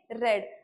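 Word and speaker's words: read: आता स्पेलिंग तिघांच बघा spelling same आहे पण उच्चार जो पास्ट मध्ये असतात त्यांचा उच्चार रेड असा करायचा आहे तुम्हाला बोलताना ओके रीड रेड रेड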